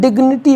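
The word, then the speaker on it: dignity: प्रश्न उठ रहा है क्या हमेशा जी के पश्चात एन आने पर जी साइलेंट होता है तो इसका भी जवाब है नहीं तो कुछ मैं वर्ड्स यहां पर ध्यान दीजिएगा डी आई जी एन आई टी वाई इसको हम डिग्निटी पढ़ते हैं क्या पढ़ते हैं डिग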